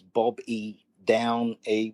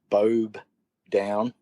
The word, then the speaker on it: Bobe Downe: underscore d-o-w-n-e okay so you might read that as bob e down a but it's pronounced bob down and twitter is at